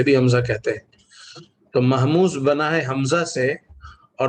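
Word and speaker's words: مهموز: محموز یہ ہوتا ہے، اب اس کو محموز بھی کہتے ہیں اور صحیح اس کا تلفظ محموز ہے۔ محموز محموز لفظ بنا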